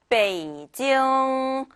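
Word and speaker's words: 北京: 앞에 삼성은 그렇다 치고 뒤에요. 베이징 하고 읽는 그냥 징 하고 끝내버리는 것이 아니라 지응, 네, 이응 이렇게 비음이 나게끔 읽어주시면 정말 다른 중국인이 들었을 때 중국인들이 들었을 때요. 우와 너 발음 진짜 좋다 이런 얘기를 할 거예요. 그러니까 꼭 비음 소리가 나게 이응 하고 마무리해 주시는 거 잊지 마시고요.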